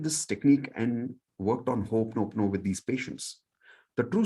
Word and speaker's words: Ho'oponopono: Okay, normally it's pronounced as, this is actually one word, Ho'oponopono, but people get confused with that one word.